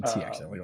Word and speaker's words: TXI: Well, actually, post rebrand, it's now TXI. Actually, TXI. Like I said, XI. I forgot the first letter. Right. Technology, experience, innovation, TXI.